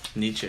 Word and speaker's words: Nietzsche: makes me stronger Friedrich Nietzsche is how you say it Nietzsche yes that's about right that's close enough my name is Hana